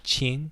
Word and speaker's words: Jin: say jin it's jin it's spelled j-i-n but we say chin because in korean that's kind of how it's pronounced i'm still learning my